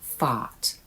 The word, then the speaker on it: thought: Number one was thought. The spelling pattern consonant o consonant which is one of the spelling patterns for soft o. We say thought with a soft o.